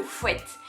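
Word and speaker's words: fuet: le fouet alors oui ça s'écrit F u e t mais ça dit fouette les gars ok ça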